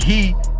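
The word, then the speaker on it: ה: as in Praise and he is pronounced like hey but in everything that shows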